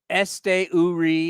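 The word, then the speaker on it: Esteury: I thought okay uh the the Estuary Essie Este URI is how you pronounce his name Ruiz that playing Center fuel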